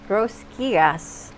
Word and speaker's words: rosquillas: Rosquillas. Rosquillas. What? No, Rosquillas. you got to pronounce the rosquillas. Rosquillas? It's your tongue attached to the roof of your mouth.